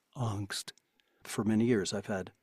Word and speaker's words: angst: How would you each pronounce A-N-G-S-T? Angst. Yes. And I would be with you on that. And I got the correction back, and it's like, it's not angst.